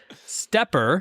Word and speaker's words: SteppIR: This is a company I only recently learned how to pronounce the name of, but Stepper is announcing that they are going to be leaving the amateur radio consumer market.